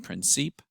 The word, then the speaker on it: Princip: by the name of Gavrilo Princip, or Princip, as he's sometimes referred to. I tend to pronounce his last name Princip.